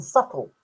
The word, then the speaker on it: subtle: Why put a B in subtle? Yeah. Why couldn't it be Why couldn't it be spelled S U T T L E? Subtle. Yeah. To rhyme with couple.